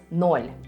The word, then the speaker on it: ноль: "Số không" trong tiếng Nga phát âm là "ноль", hoặc đôi khi cũng là "нуль", mặc dù từ đầu tiên thường được sử dụng hơn: "ноль".